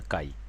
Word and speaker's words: chi: the kcare variate firstly it is pronounced as a Kai Chi is a kai kai scare variate so